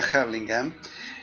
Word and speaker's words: Hurlingham: Yo me crié en un lugar en el Gran Buenos Aires que se llama Hurlingham, o se pronuncia Hurlingham, donde hay un barrio